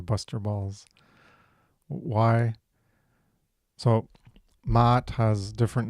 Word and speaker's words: Maat: words, and because it's pronounced Maat, then um certain certain sounds I struggle with.